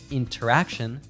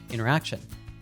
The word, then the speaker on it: interaction: In words with an NT combination, we often drop the T sound like internet, center, advantage, or winner. So instead of saying interaction, she says interaction.